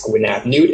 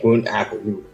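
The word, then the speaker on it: Gwyn ap Nudd: There's two ways that his name has been pronounced. It's Gwyn Ap Nud and Gwyn Ap Nud.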